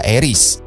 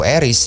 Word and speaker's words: Ares: potensial yang bisa membantu Eris dalam keinginannya. menggulihkan Olympus. Oh iya, gua ngomongnya itu Eris ya, karena kalau Ares takut diprotes. Karena kalau gua baca pronoun-nya seperti apa itu dibacanya Eris.